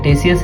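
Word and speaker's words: Ctesias: तो ये टेसियस है, इनका नेम सी साइलेंट है इसमें।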